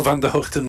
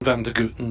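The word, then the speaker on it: Van der Gugten: well of course well Van Der hoekton Vander guten they're both frequently widely used to be honest but when he first came over and asked him what it was and he told me it was you know with an H rather than a g at the start so I've tried to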